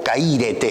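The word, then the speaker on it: χαίρετε: Noten que, por ejemplo, la palabra gozo, en el original el verbo es kairó, en este caso la palabra es kairete, o caírete es la pronunciación correcta, caírete.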